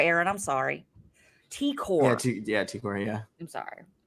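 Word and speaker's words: T'Kor: Wait, right, you said Takora, Aaron. I'm sorry. T-Core.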